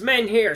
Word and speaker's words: Menhir: It's men here. Say it right.